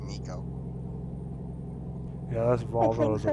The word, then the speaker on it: neko: went neko in ease n-e-k-o it's actually pronounced nico yeah that's volvo is